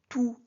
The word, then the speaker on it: tous: Bon, on utilise tout devant un nom masculin singulier, tout avec s devant un nom masculin pluriel. Mais faites attention, quand tout est un déterminant, le S ne se prononce jamais.